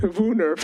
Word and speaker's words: woonerf: Again, that's pronounced WOONERF. It's a Dutch word.